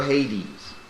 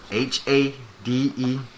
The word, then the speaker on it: Hades: does that word say you forget that's two syllables in that word that word says hadees that's how you spell hades in greek yes i'm talking about that word h-a-d-e-s hades now read that speak up hey hadees